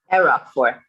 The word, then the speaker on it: Erockfor: Erockfor.